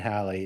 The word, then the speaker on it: Halley: Essentially, we all know Halley, and we please pronounce it Halley, not Haley.